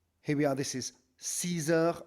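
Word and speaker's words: six heures: And again, you'll notice that X, just like with the number 2, on the number 6, the X is pronounced with a Z sound, a Z sort of sound.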